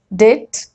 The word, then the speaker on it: debt: And rule number 2, B is usually not pronounced before T. Like in these examples, det, debtor, doubt, doubtful, subtle, subtleness. Okay, so you have to just look at these combinations and remember that you're not supposed to pronounce B.